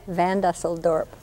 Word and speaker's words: Van Dusseldorp: Van Dusseldorp.